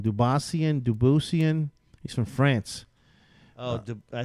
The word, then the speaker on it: Dubuisson: And Bubba Watson versus Dubassian, or how do you pronounce this guy's name? Dubuisian. He's from France. Oh, I think it's Dubuisson.